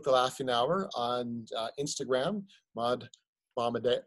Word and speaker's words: Maud Bombardier: Laughing Hour, on Instagram, Maud Bombardier. How do you pronounce that? Oh yeah, it's Maud Bombardier. It's very French.